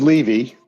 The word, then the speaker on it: Levi: It is Levi. Okay. Even though it's spelled Levi.